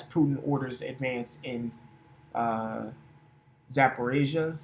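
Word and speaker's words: Zaporizhzhia: orders advance in uh Zaporasia if I'm saying that correctly. Matter of fact, let's get the pronunciation of that word really quick. Zaporisia. Yeah, I was close.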